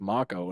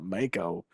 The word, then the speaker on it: Mako: And you see, I've watched enough anime now to know that it's pronounced Makco and not Mo like I called it when I played original 7. Like, yeah, let's go get this Mako reactor.